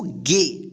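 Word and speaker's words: gay: एे ठीक जी ए वाई क्या पढ़ेंगे इसको गे ठीक तो आइए इसको हम एक बार डायरेक्ट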